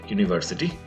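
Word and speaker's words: università: এখানে আপনি দেখতে পাচ্ছেন একটা অ্যাকসেন্ট রয়েছে, গ্রাফিক্যাল অ্যাকসেন্ট, যেটাকে আমরা বলেছিলাম আচ্ছেন্ত গ্রাভে, এখানে উচ্চারণটা হবে ইউনিভার্সিটা, আ দিয়ে একটা হচ্ছে আটা ওখানে শেষ হয়ে যাবে না, ইউনিভার্সিটা।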